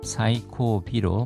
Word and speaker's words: 最後尾: 사이코 하면 최고인데 거기에 히가 붙어서 사이코비로 발음이 바뀌었습니다.